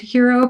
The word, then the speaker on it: Hiro: And we follow a character named Hero Protagonist, that is spelled Hiro.